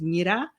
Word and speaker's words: Mira: But pronunciation of my name is Mira, like miracle.